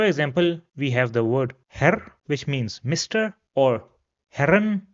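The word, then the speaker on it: Herr: So brooder however if we have two errors then this is pronounced similar to the word error in English. So for example we have the word her which means mister or her which means gentleman.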